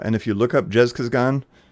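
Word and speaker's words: Zhezkazgan: uh some years back it basically has the same pronunciation but I think they spell it with a J now but it's like jizz Gan um and it's about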